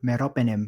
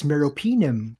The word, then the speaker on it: meropenem: Yung ano yung IV na meropenem bro ang tawag ko I'm gna give your meropenem. Yun pala it's meropenim. Oo.